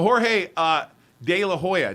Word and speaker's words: Jorge De La Hoya: Is it Jorge? Am I saying it correctly? He's not on speak. He's live. So Jorge De La Hoya. Did I get that right? Yes.